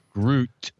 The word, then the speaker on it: Groot: I have to like accent emphasize the t sound at the end. Groot.